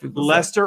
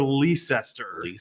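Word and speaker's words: Leicester: right and this one's out in leester or L liester if you're not if you're not not leer it's like Lester or leester is yeah well people pronounce it like Hester yeah yeah a lot of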